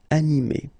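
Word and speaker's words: animée: so in that case you will just add this final uh okay but then the thing is that you don't pronounce it so phonetically you will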